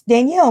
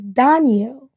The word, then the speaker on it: Danielle: So my middle name I always pronounce Danielle. My mom said it's Danielle. Oh. And I didn't. Fancy. I just always thought it was Danielle.